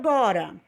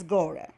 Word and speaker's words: gotta: Agora vamos ver o gora, né? Escreve-se G-O-T-T-A, mas a pronúncia é mais gora.